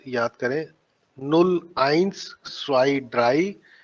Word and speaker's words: drei: Dry, fear, आई ई है तो fear हो गया, ठीक है। ई आई है तो ड्राई हो गया, ई आई है तो स्वाई हो गया।